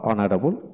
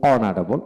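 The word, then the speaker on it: honourable: যেমন honest, honest, hour, hour, যেমন ও ইয়ার, hour, অনারেবল, অনারেবল, ইয়ার, এয়ার, এয়ার, এদের ক্ষেত্রে এখানে এইচের উচ্চারণ হয় না, এটা খেয়াল করে পড়বেন।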